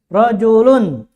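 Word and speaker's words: رَجُلٌ: domah Tain beda ya hurufnya sama tapi cara baca berbeda itu juga akan menentukan arti menentukan arti dalam masahas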